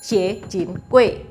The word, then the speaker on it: Xue Rengui: obey him he is Xue Rengui which in Indonesia is famous for the hokkien pronunciation Si Jin Kui / Sie Jin Kwei